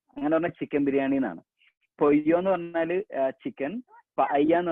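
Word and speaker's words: pollo: എല്ലിന്റെ കൂടെ വേറൊരു എല്ലും കൂടെ വന്നു കഴിഞ്ഞാൽ സ്പാനിഷിൽ അതിന്റെ ഉച്ചാരണം മാറും, യ് സൗണ്ട് ആവും. ഫോർ എക്സാമ്പിൾ ഞാൻ അവിടെ പയ്യ ദെ പൊയ്യോ, പല്ല എന്നാണ് നമ്മൾ ശരിക്കും ഇംഗ്ലീഷിൽ അത് വായിക്കുക, പൊല്ലോ എന്നാണ് ഇംഗ്ലീഷിൽ അത് വായിക്കുക.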